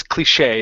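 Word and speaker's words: cliché: very good yeah so that is cliche it's a French word and so we we we would say sh that's okay okay good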